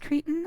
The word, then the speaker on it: Cretan: And it is pronounced Cretan, unfortunately. That is where we get the word that means idiot.